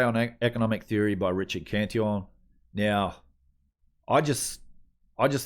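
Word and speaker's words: Cantillon: read uh you've probably heard of the cantion effect um or people pronounce it the cantelon effect uh that's from richard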